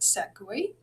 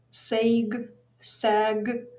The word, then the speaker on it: segue: So the word is pronounced segue. Segue. It is like transition. So a great sort of transition to the next question. But without listening to the sentence, I personally would pronounce that sag, sag, I don't know, like in vague, in fatigue,